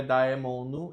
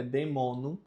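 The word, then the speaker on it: daemonum: Victor demonum, demonum não é daemonu, é demonum, porque o A está próximo do L, então não é dito, não é pronunciado.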